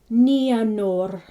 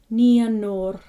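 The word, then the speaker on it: Nienor: Remember, it's the I and the E separated. Ia. Nianor. And we're not at the consonants yet, but R is always rolled. So it's Nianor. Nianor.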